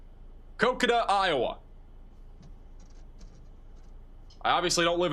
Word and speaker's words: Maquoketa: The storm still looks very very ominous over here near I have to get the pronunciation again. Maquoketa. Maquoketa, Iowa.